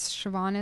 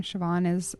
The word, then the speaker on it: Siobhan: Siobhan this is why the Irish drink. It's S-I-O. B as in Barbara, H as in Hannah, A-N. Right, and the B-H is pronounced V, right?